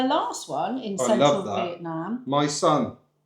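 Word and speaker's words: Mỹ Sơn: My son. And it's literally as you spell it in the UK, MYSON. Yeah, my son.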